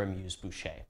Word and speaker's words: amuse-bouche: Unlike Cathay, which cut their amuse-bouche.